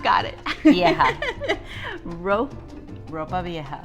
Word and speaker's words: ropa vieja: robot I have not got it yeah rope ropa vieja ropa vieja I can't even say it I can't wait